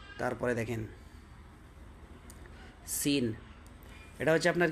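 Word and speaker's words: سين: দাল এটা হচ্ছে র র জা তারপরে দেখেন সিন এটা হচ্ছে আপনার কি সিন তারপরেরটা কি শিন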